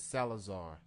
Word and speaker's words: Salazar: I'm never it, good at pronouncing her last name. it's Salazar.